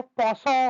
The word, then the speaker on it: penchant: उसको हम लोग जो कहते हैं ये PENCHANT, ऐसे इसको पौसो बोलते हैं, कुछ इस तरह से बोलते हैं प्रोनाउंसिएशन में, पौसो।